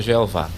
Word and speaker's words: Javé: você tá vendo aí o nome Javé mas é jeová né o Javé Na verdade é um é mais aproxim é uma pronúncia mais aproximada né a adoração a